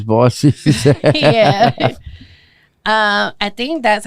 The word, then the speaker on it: Bossie: coming to the stage, Boosie V. And I was like, oh hell no, nah, but she corrected I that. Nah, my name's Bossy.